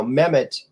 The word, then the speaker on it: Mehmet: it usually is now mehmet abby's says uh m-e-h-m-e-t meh meh met okay so it's like met mets but the site the first t is really an h so met that's how it's spelled yeah so the the